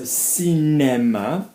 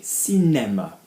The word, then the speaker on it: cinéma: If I have an accent on the E, so cinéma, I'm going to go above the line, like egg, cinéma, okay, cinéma.